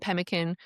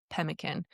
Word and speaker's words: pemmican: We're going to assume it's roughly pronounced pemkin.